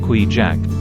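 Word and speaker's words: Kvichak: Bay we fish on the kichak river pronounced qu jaac hence the name given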